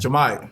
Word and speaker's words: Jahmai: Jahmai, Oh my God.